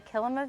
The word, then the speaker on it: Kilima: it is called a kilima village so the root word is similar to Kilimanjaro it kind of just helps you pronounce it there but it's a it's